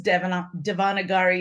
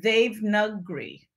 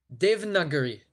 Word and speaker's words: Devanagari: us how to pronounce what we thought was devanagari it's pronounced like they've nuggery dev nuggery they've not here it's a single syllable okay